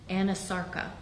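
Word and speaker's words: anasarca: a condition known as Anasarka? If I'm not mispronouncing it. No, you're pronouncing correctly. She did have a condition called Anasarka.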